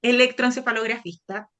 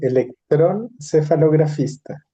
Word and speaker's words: electroencefalografista: Lo lo trataron de pronunciar. Electroencefalografista. Sí, pero en era electroncefalografista, como que le faltaba la e. Sí, faltó la I.